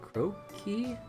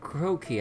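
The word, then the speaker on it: croquis: hmm that would be how do you pronounce that croaky i assume the s is silent that would be croaky i uh i believe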